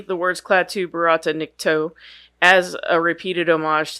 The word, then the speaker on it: verata: day or Stood Still but a slight variant in the word he pronounces the second word as verata apparently this is intentional as the wise man is also heard saying the words this way when instructing Ash on